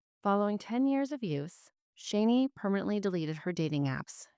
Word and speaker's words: Shani: my next guest is shanie silver and she is an author and podcast originally from Fort Worth Texas her name is pronounced rainy with an sh and her book a